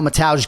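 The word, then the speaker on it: Mateusz: right we all know mataj gamroth so certainly Poland it's mataj when it's m-a-t-e-u-s-z and Cody obviously is graphically representing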